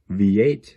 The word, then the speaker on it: Veate: see all that Elia very Veet v8 that's how you pop to say her name she she is number